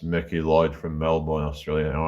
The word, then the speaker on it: Melbourne: I'm from Wales originally, but now it's Mickey Lloyd from Melbourne, Australia. All right, Melbourne, Australia. The s pronounce it Melbourne. Like it's instead of Melbourne. We say Melbourne.